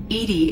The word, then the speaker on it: EDI: airlock is a jar why are you named Edie Edy is the phonetic pronunciation of Eed that is an acronym for